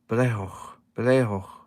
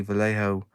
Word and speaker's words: Vallejo: comes from South America, and he says it with a B, Vallejo. Just putting it out there, but we English, we muller words every time, so we just say Vallejo.